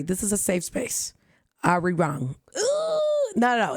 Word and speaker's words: Arirang: I don't think you have to roll your R's when you say, right? ARIRANG.